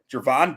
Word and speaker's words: Gervon: Dexter it's it's uh pronounced like a j ah see surprisingly um Javon Dexter senior he just